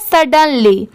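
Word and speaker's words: sudden: कैसे प्रोनाउंस करें तो इसे पढ़ते हैं सडन एस यू डी इसकी साउंड शुड नहीं आएगी इसे सड की साउंड आ रही है सर्ड और डी ई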